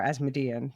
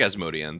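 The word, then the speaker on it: Asmodean: was cast they're like could this possibly be asmodian um or as median that's another one I'm like which way should I pronounce it I think asmodian that's how they say it in the audiobooks okay okay um but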